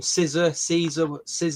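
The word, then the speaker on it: SZA: How do you pronounce her name? Caesar.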